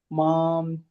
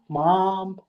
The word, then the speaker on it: मां: Matparaha in the second line and mam dhayanta mam, like this akar, right? Mam dhayanta upasate. But yeah.